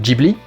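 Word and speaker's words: Ghibli: dessiné par le studio Gibly. J'ai toujours l'habitude de dire Gibly. Je suis en train d'esser de m'habituer à dire Gibly parce que c'est comme ça qu'elle se prononce en japonais.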